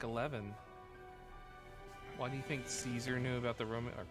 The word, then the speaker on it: Caesar: C's in Latin are always hard C's, not soft C's, I believe. Something like that. They sound like a K.